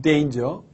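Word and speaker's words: danger: 이렇게 말하는 요도 있습니다 물론 이단 의 정확한 발음은 때 인 즈 절대 인저 은 데인저 자 또 어떤 분들은 요 설탕 아니라 뭐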